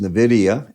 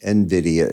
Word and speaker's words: Nvidia: obviously everybody wants the next Nidia Nvidia is really how you say it and the the